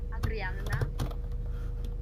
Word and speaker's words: Adriana: No, it's actually Adriana. Oh, Adriana. Yes, but like, make sure that there is a double N.